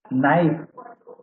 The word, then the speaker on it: knife: Roman लिपि के व्याकरण को देखें तो नाइफ यानी चाकू, तो वो कैसे KNIFE ऐसे बनता है स्पेलिंग। तो वहां पर के साइलेंट हो गया है।